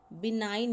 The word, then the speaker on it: benign: C option, BENIGN, बिनाइन इसको पढ़ा जाता है और बिनाइन की करेक्ट स्पेलिंग होती है BENIGN।